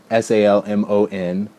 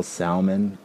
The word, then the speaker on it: salmon: pronounced roof and salmon s-a-l-m-o-n um i don't pronounce the l salmon salmon but i did